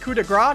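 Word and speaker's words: coup de grâce: games to everybody hiku you absolute nut it's pronounced coup de gras that's what i said i say coup de grace but yeah that was tonight's friday night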